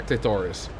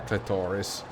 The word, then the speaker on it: clitoris: I think the stress is supposed to be on the first syllable.